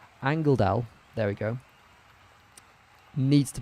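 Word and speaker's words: Angeldahl: I think Agdabal, sorry, how do you say her name? Angeldal, there we go, needs to become more central.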